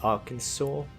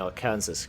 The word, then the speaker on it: Arkansas: the predecessor or the Arkansas even though I keep saying our Kansas because that's how it looks like it's spelled but anyone from Arkansas